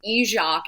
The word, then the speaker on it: Izsak: It is pronounced Izsak in the mother tongue.